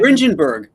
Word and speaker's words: Dringenberg: Is it Mike Dennenberg? Drenenberg? Is that how you say his name? Dringenberg.